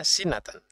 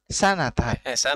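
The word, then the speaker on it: سنة: Isruna sinatan. Sanatan. Sanatan. Isruna sanatan. Antum baca sanah dengan sinah itu nanti maknanya beda ya.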